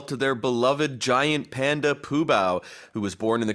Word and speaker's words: Fu Bao: but when I teach students, always I tell them the F sound instead of the P sound, right?